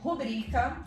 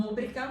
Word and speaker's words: rubrica: Então é rubrica, Rubrica não rúbrica, e cateter.